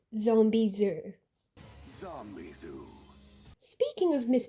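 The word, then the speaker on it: Zombizou: and I read it as Zombie Zo cuz the Zo U kind of looks like it could be said as Zho. It's understandable given the spelling, but once you watch the episode, you hear it and you know it's Zombie Zoo.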